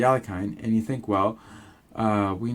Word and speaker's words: Alekhine: You play against a guy who's playing the Alekhine, yes, that's how I pronounce it, the Alekhine, and you think, well,